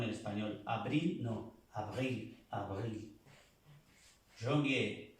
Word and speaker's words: janvier: Janvier. No se dice janvier, no. Es un sonido nasal, como on.